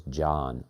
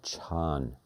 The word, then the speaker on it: Chan: They left off the A on the end and pronounced it as Jan or Chan.